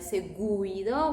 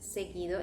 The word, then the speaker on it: seguido: Can you see the U is after the G, but we are not going to pronounce it like seguido. We say just seguido. In this case, U becomes silent.